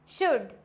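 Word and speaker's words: should: डी से पहले है तो क्या हो जाएगा silent कुड वुड शुड clear हो गया यहां पे सब में क्या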